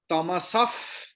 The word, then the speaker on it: तमसः: Jyoti, if visarga is in between the sentence, then visarga will not be like ha. Okay. अभी विसर्ग के बाद प है, तो विसर्ग का प्रोनाउंसिएशन विल बी लाइक फ. इसको कहते हैं उपधमानीय. तो इट विल बी आदित्य वर्णम तमसफ परस्तात्.